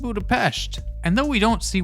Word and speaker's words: Budapest: There's been a lot of chitter chatter about what happened in Budapest, or sorry Natasha, it's pronounced Budapeshhht.